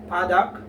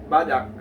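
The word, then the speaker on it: 바닥: So you will notice, guys, that on the second syllable, you will find the gyok letter, the gyok consonant, and it is at the last part of the syllable. And this and gyok here is pronounced as K, as it is read as dak.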